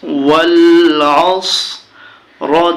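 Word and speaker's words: وَالْعَصْر: ওয়ায় জবর লামে জজম ওয়াল, আইনে জবর সদে জজম আস, ওয়াল আস। র জির রি, ওয়াল আসরি। যখন এখানে আমরা থামবো উচ্চারণ হবে ওয়াল আসর, ওয়াল আসর, ওয়াল আসর।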